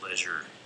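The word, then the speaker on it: leisure: Boise you notice I I pronounce leure as a a rhyming with pleasure instead of seizure I think that's an important distinction pleasure should rhyme with pleasure not seizure I'm just throwing that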